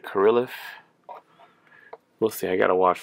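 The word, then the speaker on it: Kirilloff: krillif kiriloff i heard i've heard some people pronounce it kirilov i pronounce it karilif we'll see i gotta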